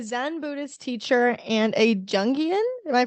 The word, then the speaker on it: Jungian: So you're a Zen Buddhist teacher and a Jungian. Am I pronouncing that right? Psychotherapist? Jungian.